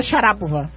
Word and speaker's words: Sharapova: Sabe que a gente fala Sharapova errado, né? Como é que é? É Maria Sharapova. Sharapova.